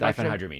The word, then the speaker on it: diphenhydramine: It's like diphenhydramine.